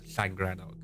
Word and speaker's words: Llangrannog: So when I was 10 years old, my school took me to what is commonly known as Llangrannog. And yes, if you don't know, that is how it's pronounced.